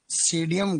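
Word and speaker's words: Psidium: सीडीएम गुआ जावा सीडीएम गुआ जावा लिखो सीडीएम गुआ जावा अंग्रेजी में पी साइलेंट रहता है ऐसे लिखते हैं इसको है ना सीडीएम सीडीएम गुआ जावा सीडियम गुआ जावा फिर लिखो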